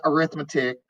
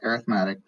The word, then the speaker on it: arithmetic: i know a lot of people call it arithmetic but it's actually pronounced arithmetic what just happened there like the whole screen